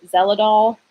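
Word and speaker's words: Xeloda: cape state of mine which is zell at all but it starts with an X but I'm pretty sure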